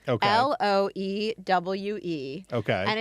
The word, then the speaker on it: Loewe: I think the brand is pronounced Loewe. Okay. Loewe.